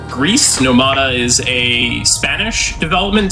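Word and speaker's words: Gris: so first off uh the game is pronounced Greece nomada is a Spanish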